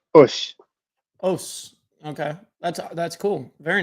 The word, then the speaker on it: osu: It's spelled OSU, and it's pronounced Ush.